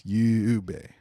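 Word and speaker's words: 夕べ: So it's not just you. It's yube. So it's like 3 beats.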